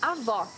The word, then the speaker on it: avó: Avó, grandmother. Here you need to hear the sound of the last O in the syllable. It should be an open O, as we say in Portuguese.